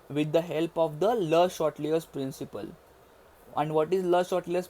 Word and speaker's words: Le Chatelier: Okay, so guys, this is your Le-Chatelier's principle. Now guys, don't pronounce it as Le Chatelier's. It is a French name, that is Le Chatelier's.